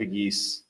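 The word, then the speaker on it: Pegues: I completely JJ Piggee, the uh defensive tackle who also had seven rushing touchdowns last year for Old Miss as Oh, yeah.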